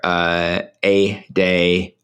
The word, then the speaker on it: EDA: I'm still, I had the black carnivore, A-Day, A-Day Fox. It's spelled EDA, and they have really encouraged me to at least be open to it.